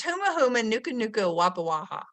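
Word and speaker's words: humuhumunukunukuāpuaʻa: And when I was a very young kid, I taught myself to pronounce this word. It's huma huma nuka nuka wapa waha.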